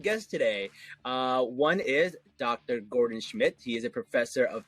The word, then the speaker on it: Gordan Schmidt: Yeah, hi, I'm Gordan Schmidt.